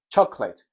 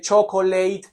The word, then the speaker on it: chocolate: elar chocolate Ah chocolate chocolate no se dice chocolate ni se dice chocolate se dice chocolate chocolate